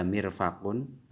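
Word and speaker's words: مرفق: Jadi di sini ada mirfakun, ada siku, mirfakun. Ya, jadi harus jelas ya pelafalannya. Mirfakun seperti itu.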